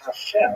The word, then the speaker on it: Hashem: And the word Hashem, of course, is pronounced with the letter H, but there is no letter H in the Russian alphabet.